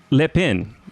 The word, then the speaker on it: Lepin: And then we have Alexandre Lepin, right? Lepin. Okay, I'm trying so hard to pronounce it properly.